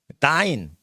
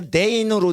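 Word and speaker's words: dein: 다인. 근데 다인이 아니라 데인으로 돼 있죠. 데인. 읽을 때 어떻게 읽어요? 데인이죠. 그럴 때 요즘 데인이라고 안 읽어요. 왜? 데인 하면 힘이 들어. 그래서 에인데도 아인이라고 발음을 해요.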